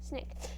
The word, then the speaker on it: SNCC: student nonviolent coordinating committee sc sncc pronounced snake to give more focus